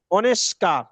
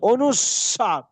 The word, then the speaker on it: অনুস্বার: অনুসার অনুস্বাকার অনেকেই এই পর্যন্ত বলে এসেছি অনুষ্কার অনুস্কার হবে অনুস্বার বিশ্বাস যেভাবে উচ্চারণ